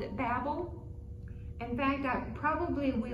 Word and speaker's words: Babel: from that word but mine has the pronunciation that says babel and and it says